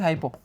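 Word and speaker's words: hypo: लिखना ज़रूरी है इसलिए लिख देते हैं हाइपो, हिपो नहीं हाइपो, ठीक है।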